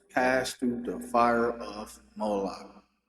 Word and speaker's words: Molech: Of Hinnom, to cause their sons and their daughters to pass through the fire of Molach, or molech. Some people pronounce it like that.